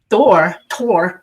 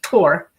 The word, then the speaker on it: Thor: And Thor is pronounced Tor, okay?